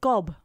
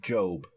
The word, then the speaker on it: Gob: it is it not job i mean it's spelled g-o-b it says gob to me if you want to be pedantic and say job it should be an e on the end of that it's just i'm just